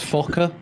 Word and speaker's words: Fokker: It's actually pronounced Fokker.